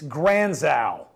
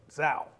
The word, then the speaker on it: Granzow: It's Granzow. Yes. I keep hearing on the TV and Granzow. There's a W on the end of it. Zow. Pronounce it correctly, please.